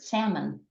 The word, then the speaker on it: salmon: Another example would be the word salmon. Again, no one pronounces the L.